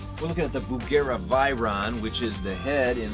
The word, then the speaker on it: Veyron: some fun plug through the bugera by Ron and it is pronounced by Ron in case you were wondering we're running through the